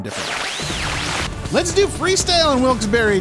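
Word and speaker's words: Wilkes-Barre: wils Berry and I think I called it wils bear there's a lot of debate as to how you uh pronounce that that Town's name and it's literally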